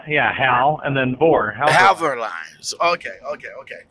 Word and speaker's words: Halvor: though atl uh yeah hal and then board have our lines okay okay okay how how long have